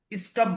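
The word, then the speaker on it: stop: স্টপ, স্টপ, থামা, স্টপ, থামা। অনেকেই এস এর উচ্চারণটা বেশি করে করে, স্টপ, স্টপ বলে না। স্টপ, এস এর উচ্চারণটা অল্প করে হয়।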